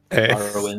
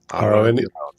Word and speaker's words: Rone: Rowan, you're Rowan. Rone.